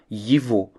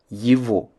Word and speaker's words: его: Son, sa, c'est, lorsque le possesseur est masculin ou neutre, se traduira par yivo. Le ge qui se trouve toujours entre ye et o en russe se prononce comme un v. Yivo.